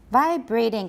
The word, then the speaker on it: vibrating: Vibrating. Please, nobody. Actually, it's vibrating in British, so it's not that bad a mistake. But since we're doing American, stress is on the first syllable.